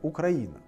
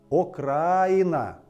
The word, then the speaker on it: Украина: русском языке есть слово окраина окраина с ударением на а украина а есть украина и с ударением на и украина и в русском языке